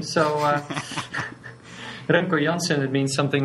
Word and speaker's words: Remco Janssen: Yes, well, you pronounce it perfectly for an American. Usually, you always fuck up my name. So, Remco Janssen, it means something like Rambo Johnson if you translate it to American.